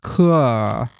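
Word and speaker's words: cœur: It's pronounced "coeur."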